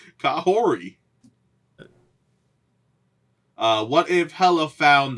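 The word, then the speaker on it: Kahhori: if season 2 and her name is pronounced kahor there's a t apparently I I don't know where it came from but it says pronunciation or t Okay shout out to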